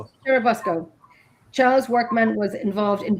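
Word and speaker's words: Churubusco: and living in I'm going to try and pronounce this because you know the word I'm going to try and say kuruco churabusco churabusco Charles workman was involved in bootlegging runs to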